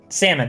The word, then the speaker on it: salmon: to just solomon said i am not pronouncing that fish name correctly salmon salmon there we go it's going to just